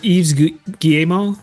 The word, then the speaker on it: Yves Guillemot: Do you know that is pronounced that? Ruchle? Or Yves Guillemot?